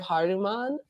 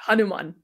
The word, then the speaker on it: Hanuman: starts off with the story of haruman Haru haruman haruman am I saying it correctly yeah Hanuman yep Hanuman okay yeah um and